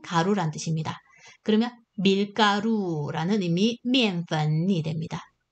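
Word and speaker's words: 面: 발음은 미엔.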